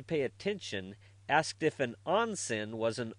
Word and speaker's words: onsen: Even my wife, trying not to pay attention, asked if an onsen was an onsen.